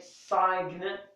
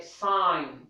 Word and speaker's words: sign: it is not pronounced we do not shake Saiga we say sign to to sign to sign okay that's for G silent